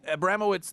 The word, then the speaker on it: Abramowitz: Is Abramowitz the proper way to pronounce that, sir? Yeah, Okay, very good.